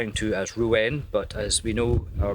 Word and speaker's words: Rouen: New pronunciation, not Rouen, Rouen, in France.